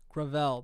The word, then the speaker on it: Gravel: That's At the Gravel Institute, we're building Gravel, that's how you pronounce it.